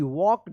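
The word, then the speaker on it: walked: एल के ई डी वॉक्ड यहां पे एल साइलेंट है वॉक्ड टवर्ड्स टवर्ड होगा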